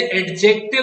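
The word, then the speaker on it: adjective: अगर आपको एडजेक्टिव को प्लूरल बनाना है, और इसे एडजेक्टिव नहीं पढ़ते, एडजेक्टिव पढ़ते हैं, डी इज साइलेंट।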